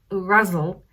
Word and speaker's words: Ghazal: you want further information i am pronouncing it russell um and i practiced it because that's how i i heard hashem beck say that um and pronounce it